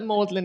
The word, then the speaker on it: Magdalen: for that really um it's apparently based on the medieval pronunciation but I think it's